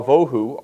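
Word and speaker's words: בֹהוּ: So here, tohu, va, wa, vohu are closely related. Vohu is stressed on the first syllable.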